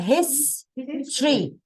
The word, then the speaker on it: history: History. Not Tory. Tree. History. Not Terry. Not Tory. Tree. Like a tree.